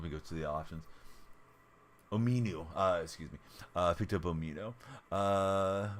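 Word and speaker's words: Omenihu: night, and picked up I forget how to pronounce this guy's name. Owino, right? Dang it. I was trying to maximize the card. Here we go. Let me go to the options. Ominu, excuse me.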